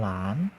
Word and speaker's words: หลาน: รอ ออ กอ หรอก หลาน อ่าน ว่า หอ รอ anau หลาน แหวน อ่าน ว่า หอ